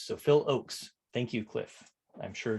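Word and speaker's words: Ochs: all right uh cliff says that ox rhymes with oaks so phil oakes thank you cliff i'm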